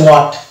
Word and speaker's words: what: তাহলে WHAT এই শব্দটা হচ্ছে ওয়াট, ব্রিটিশ ইংলিশের ক্ষেত্রে এটা হবে ওয়াট, এখানে কিন্তু H সাইলেন্ট থাকবে, কিন্তু আমেরিকান ইংলিশের ক্ষেত্রে ওটা হয়ে যাবে হট, অর্থাৎ W ওখানে সাইলেন্ট থাকবে।